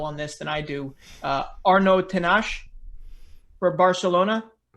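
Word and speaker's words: Arnau Tenas: Arnaud Tenache for Barcelona. Arnaud Tenash.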